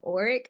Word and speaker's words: Ullrich: Yeah, so I have a rare form of muscular dystrophy called ORIC. The way you spell it is ULLRICH. When at the time of my diagnosis, I was around, I think, 9 or 10 years old.